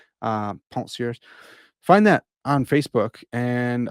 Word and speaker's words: Pensées: I'll pronounce the second French word, but not the first one correctly. Pensées.